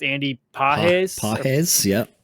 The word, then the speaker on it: Pages: I think it's Andy PES PES yeah P yeah I would say Andy Pages because it's Andy Pages because that's how it's spelled uh he had his